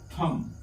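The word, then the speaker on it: thumb: एच यू एम बी तो इसे हम पढ़ेंगे थम क्या पढ़ेंगे थम हालांकि लास्ट में बी दे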